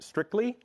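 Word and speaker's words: Stricli: announcement yesterday we have strictly this is the application this is the CLI framework that we developed internally and we released as open source software yesterday it is pronounced strictly like the word strictly um there's no dancing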